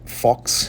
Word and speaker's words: Focx: This is is the Fox and it's spelled FOCX.